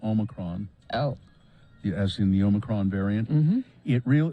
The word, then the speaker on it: Omicron: oh as in the Omicron variant it real the Oxford dictionary has several different ways to pronounce it but the preferred way is Omicron obicron Omicron Omicron I'm